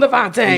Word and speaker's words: D'Vonta: to her I'm like please don't let me call this man Devonte I know I'm a up but call him Devonte yeah but that's how you say it that's actually how